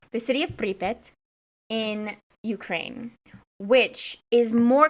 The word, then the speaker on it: Pripyat: Pripyat. The city of Pripyat in Ukraine, which is more commonly known as Chernobyl or Chernobyl.